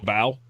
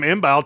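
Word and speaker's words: Mbow: Yeah, the M's silent. It's Marcus B. Bow. Oh, Bo. Yeah, didn't know that. Pretty sure I called him imbal to his face and didn't mean to.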